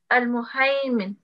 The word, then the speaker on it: المهيمن: This one would be pronounced as المهيمن.